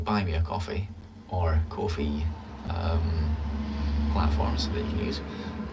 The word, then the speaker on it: Ko-fi: See, it's Ko-fi. Apparently that is how you're meant to pronounce it.